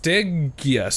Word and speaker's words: Stygius: It is pronounced Stygius. Stygius.